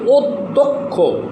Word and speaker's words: অধ্যক্ষ: যেমন অধ্যক্ষ, এখানে দর সাথে জফলা হয়েছে, এই দটা দুইবার উচ্চারণ হয়েছে কি অধ্যক্ষ, অধ্যক্ষ।